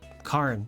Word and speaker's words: Karn: Rhymes with barn? Karn.